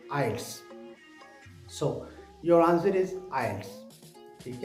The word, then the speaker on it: IELTS: So your answer is IELTS।